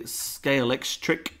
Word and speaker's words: Scalextric: I also remember having a Scalextric, I believe is the correct pronunciation, yes.